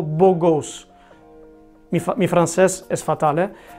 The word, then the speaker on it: beau gosse: Si lo pronunciamos algo como beau gosse.